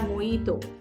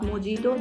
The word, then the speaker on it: mojito: it Pizza always say pizza then we have moito yes I've already told you that this is not mojito this is moito then we have jalapeno this